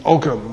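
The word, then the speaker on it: ogham: Now The Druids have been using the the ogum or om script as it's um properly pronounced um for as long as the runes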